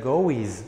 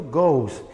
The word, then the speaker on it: goes: Porque la O, si bien en la ortografía agrego la E y la S, pero no voy a pronunciar goes, ¿ok? Pronuncio goes.